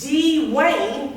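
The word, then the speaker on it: Deewayne: trainee at our firm called d wayne no no not dwayne d wayne it's spelt d-e-e-w-a-y-n-e d-wayne he would correct you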